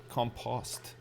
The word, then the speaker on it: compost: or where I live do we pronounce compost with the post rhyming with lost compost it's very English that's a very like uh that's very British compost I would say compost